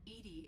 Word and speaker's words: EDI: into the voice why are you named edie edie is the phonetic pronunciation of edi that is an acronym for